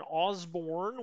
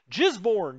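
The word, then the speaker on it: Gisborne: papa khari why papakari obviously that's how the locals say it uh in osborne we actually have two motorized units well i guess it's flat down here did i say osborne jizborn jizborn uh sorry uh jizborn uh born people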